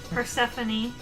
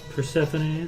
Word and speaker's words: Persephone: Persephone Sure. Pavo. Persephone, spelled the traditional way, I assume.